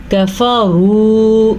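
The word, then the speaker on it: كَفَرُوا: کفروا، را کو پر پڑھنا ہے اور وہ مدہ ادا کرنا ہے.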